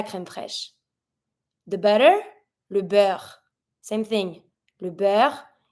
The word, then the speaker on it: beurre: The butter, le beurre. Same thing. Le beurre, EU, a sound, double R, E is mute. Le beurre.